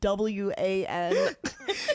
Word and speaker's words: Juan: I just heard it in my mind as WAN. Yeah, you were real silent with the J there.